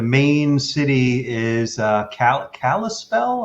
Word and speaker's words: Kalispell: city is uh cal kalispell am i saying that properly it's kalispell that's right right on um and